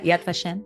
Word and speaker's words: Yad Vashem: Israel I went to the Holocaust Museum the Yad vashem am I saying it right yeah Yad vashem MH um and there was a lot of